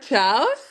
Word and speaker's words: chao: mean something in Spanish we say like Chow kind of like Italians do for goodbye but we spell it with a CH in Spanish oh okay yeah and